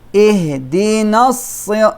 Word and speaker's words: اهدنا: Ihdina. This alif is dropped because we connected with the sad. Only we read this alif if we stop.